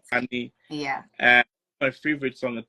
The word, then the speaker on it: Kehlani: I like listening to I don't know if I'm pronouncing it right, Kelani or Kehlani. Oh, Kelani. Yeah, you're right. Kelani.